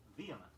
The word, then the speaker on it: vehement: Here are two words, each spelled with an H, but preferably pronounced without it. The first is vehement, V-E-H-E-M-E-N-T, meaning impassioned in feeling and action.